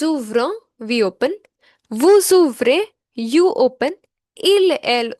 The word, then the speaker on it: vous: This is because the next word begins with a vowel. When the next word begins with a vowel, at that time only we pronounce the last consonant of the first word.